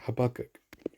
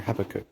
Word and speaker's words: Habakkuk: earnest mission which you go after the carrier habakkuk or havacook however you want to pronounce it it's a giant ice carrier that